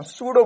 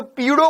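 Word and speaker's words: pseudo: ना अब प से अब सर प से शुरू तो यह तो पीडो फोर्स हो गया पी प साइलेंट है इसमें प साइलेंट है ना तो s से बोलेंगे सूडो फोर्स लेकिन लगेंगे p से तो सूडो फोर्स कहलाता है तो यह हो गया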